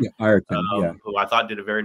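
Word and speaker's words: Ireton: say that, Will Ayrton, is that how you pronounce his name? Yeah, Ayrton, yeah.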